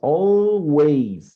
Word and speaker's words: always: Bueno, pronunciation of always, mira, es always, no wise, sino ways, always.